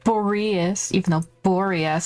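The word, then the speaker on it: Boreas: is the connection between them okay apparently is pronounced boreus even though boreus sounds a little bit easier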